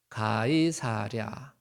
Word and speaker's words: 가이사랴: 영어로는 시저라 그러는데이 성경 단어는 시저를 다른 식으로 발음해 놨어요. 어 뭐라 그랬다고요? 예. 가이사랴. 예. 가이사랴. 뭐 경상도 발음인가? 그래서 가이가 개라 그러더라고. 그래서 이제 가이 사랴 그러면 개를 사러 간다. 뭐 이렇게 해서 어느 할머니가 그렇게 이제 이해를 했다 그러는데요 가이사랴가 뭐냐면 시저를 이제 우리 한국식으로 발음한 거예요.